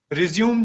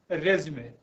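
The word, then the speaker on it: résumé: Resume, resume जिसको लोग पढ़ते हैं, it is actually pronounced as resume.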